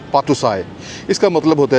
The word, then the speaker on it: Patuxai: Right जी, सो ये जगह है जी, इसको पातुसाई कहते हैं। अगर मैं स्पेलिंग करूं तो ये PATUXAI, पातुसाई, इसका मतलब होता है जी विक्ट्री गेट।